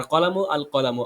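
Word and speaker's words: القلم: আর কলামু আল কলামু, আলিফ লামের উচ্চারণ আসছে।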